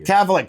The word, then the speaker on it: Cavallari: Cavallari.